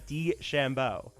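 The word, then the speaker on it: DeChambeau: d chambeau so nick i'm gonna have you spell it d shambo e c capital c capital c h a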